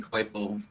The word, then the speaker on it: Coipel: Also really enjoyed this Olivier Coipel Spider-Man cover. I mean, there's good stuff How do you out there. pronounce that name? For years, I have not been able to pronounce that name. Olivier Coipel.